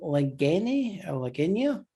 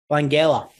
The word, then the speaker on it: Langella: Of course, that is Skeletor played by Frank Lagenia.